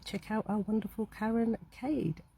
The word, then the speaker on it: Cade: And um you know, please do check out our wonderful Karen Cade. Not Cade, Cade.